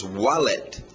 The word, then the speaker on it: wallet: Outras coisas que a pessoa pode usar junto com o suit, um W saindo dos lábios, wallet.